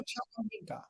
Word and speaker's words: Chukwuemeka: How do you pronounce it? Chukwuemeka.